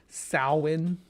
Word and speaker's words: Samhain: Samhain is how it's pronounced.